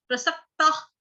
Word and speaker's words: प्रसक्ताः: सक्ता, त आता, आधा ख जोड़ेंगे, ता, विसर्ग का उच्चारण जो है आधा ख छोड़ेंगे, मतलब पूरा पूरा ख नहीं करेंगे, ख से खरगोश ऐसे वाला नहीं। प्रसक्ता कि सुनने वाले को ख का टच सुनाई दे थोड़ा सा, और जैसे